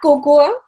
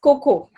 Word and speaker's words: cocoa: Why have we added an a to it? It is not cocoa but it is cocoa.